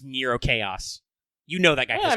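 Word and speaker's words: Nrvnqsr Chaos: of them goes around writing his name nevinsker but it's supposed to be pronounced nero chaos you know that guy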